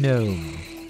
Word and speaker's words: gnome: or Gars probably Nars one does not pronounce a g in words like these kind of like you how you don't pronounce the G in Gnome it's not gnome gnome